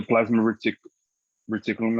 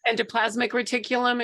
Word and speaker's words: endoplasmic reticulum: Golgi apparatus, you know, and the plasma reticulum, I think. Endoplasmic reticulum is the way that's pronounced.